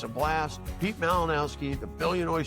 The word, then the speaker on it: Malinowski: We're going to have a fun conversation today with a gentleman named Pete Malinowski. Did I pronounce that right?